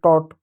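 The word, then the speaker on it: taught: उसी प्रकार टी का ट हो जाएगा, ए का ओ की मात्रा होगा, जी एच टी का ट हो जाएगा टॉट, या इसको थॉट कह सकते हैं, इसका टी का थ भी हो सकता है, थॉट कह सकते हो।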